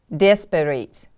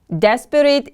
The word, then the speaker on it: desperate: The stress is on the first syllable. Repeat after me, please. Nomad, nomad. The next word is desperate. To be desperate. Desperate is an adjective.